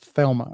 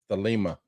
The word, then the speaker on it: Thelema: thma or the the the how do you say that I see Thelma the Lima the Lima the Lima so just like crowly his his words are like saying he's pronouncing his words different Cy is really looks like Crawley it does and the Lima looks like thma it does look like thma don't thma it says thma but anyway now um Crowley's